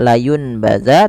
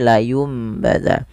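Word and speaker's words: لينبذن: atau huruf M maka tidak lagi Dibaca layunbazza tapi layumbadza dan sambil ditahan dua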